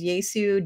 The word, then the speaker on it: Jesu: i think it is which is yaesu joy of man's desiring but it's spelled j-e-s-u that means that means